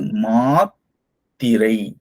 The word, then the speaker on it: மாத்திரை: இது மாத்திரை. மாத்திரை. மாத்திரை. மாத்திரை. சொல்லும்போது பாத்தீங்களா, இங்க ஒரு ஸ்டாப், ஒரு நிறுத்தல் வருது. இத உச்சரிக்கும் போது எதுவுமே இல்ல. மாளிகை. இங்க ஒரு இத்து இருக்கிறதுனால இங்க நிறுத்தம் செய்றோம்.